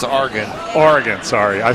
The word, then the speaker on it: Oregon: and Oregon if they're watching this you're completely mispronounced that many beers it's Argan Oregon sorry I say who Oregon it looks